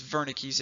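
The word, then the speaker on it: Wernicke: this whole area is Verna Keyes area and it's pronounced with a V a lot of times it's a German word so they say there's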